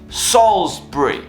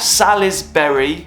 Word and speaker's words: Salisbury: Salisbury yes that's right it's pronounced Salisbury not Sally's Berry Salisbury English Salisbury is a cathedral city in